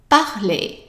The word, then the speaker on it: parler: Now the other thing is that ER at the end of verbs is always pronounced as short A. Okay? So now how would you pronounce the whole verb? Right, parler, parler.